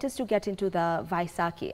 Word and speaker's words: Vaisakhi: All right, I want us to get into the Vaisakhi. Am I pronouncing it right? Vaisakhi, right. Or yeah. Vaisakhi, yes.